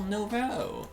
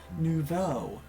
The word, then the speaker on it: nouveau: We're prepared for a festival Novo. Nuevo? What? Hooray, festival Novo? Almost got it. It's right off like nouveau. Make the O sound at the end.